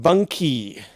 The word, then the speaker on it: bunkie: have originated in Ontario it's a short form of bunk house so it's pronounced bunky it seems to be